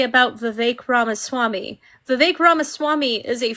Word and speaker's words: Vivek: It rhymes with fake. So Vivek.